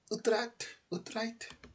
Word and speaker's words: Utrecht: That's how you pronounce that? Sounds like I'm one of them Vikings at that point. Utrecht.